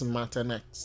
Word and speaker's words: Matanex: Sorry, JC Men telling me the pronunciation is Matanex, not however I was pronouncing.